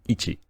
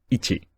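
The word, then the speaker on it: いち: example the character for one has on reading Ichi repeat after me Ichi when you see it without hiragana on the end you should read the character with the Chinese on reading Ichi the character for one has Japanese Kun leading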